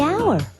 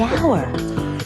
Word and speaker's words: hour: The owner, the animal, the hour. Wait, h is not a vowel sound. It's a consonant sound, but it's not the first sound. The H is silent. The hour.